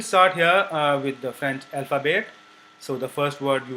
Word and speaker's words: alphabet: So we'll start here with the French alphabet. So the first word you will learn in French is alphabet. This is not alphabet, but because T is not pronounced, why we will learn just later when we learn about the pronunciation.